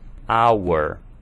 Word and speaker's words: hour: Já nesse caso aqui, hour tem um som de vogal, vowel, porque o H é mudo, nós vamos considerar o som de vogal, portanto, an hour.